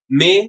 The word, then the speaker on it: mes: Mes livres. The S is usually silent. Okay, but at times we do pronounce it like a Z, mes, if the next word starts with a vowel.